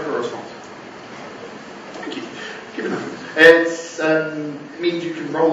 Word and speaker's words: Kubernetes: Can I just pronounce it? Wait for a response. Thank you. Kubernetes.